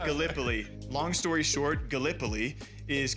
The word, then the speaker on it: Gallipoli: right because being from Iowa, I said uh Galipoli and it's it is pronounced Gallipoli.